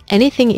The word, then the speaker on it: anything: 첫 번째로 주의할 발음은 anything의 th 발음입니다. 혹시 저번에 You're amazing, remember that 이 영상에서 S와 Z가 같은 입모양이라고 했던 거 기억나시나요? 이 TH가 두 가지 소리가 있어요.